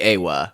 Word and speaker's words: Eywa: It is spelled EYWA, so Yeah. it is Awa.